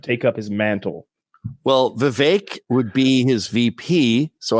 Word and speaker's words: Vivek: Vivek. It rhymes with cake.